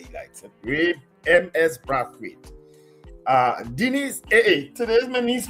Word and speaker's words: Brathwaite: Let me pronounce his name the way he likes it. Ray M.S. Brathwaite.